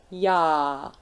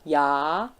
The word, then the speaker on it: já: Na, já. And you can hear that the other one, the second one, já, is a bit longer. That's because of the sign on top of it.